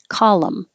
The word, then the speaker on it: column: Column, which makes me think of call them, but without the TH, because you can drop the TH and connect the L, and it sounds like column.